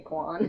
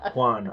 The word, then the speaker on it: Juan: After a few glasses of wine, I might say Quan. Quan. Juan. Okay, Juan. so Yeah. so let's That's hear you awesome.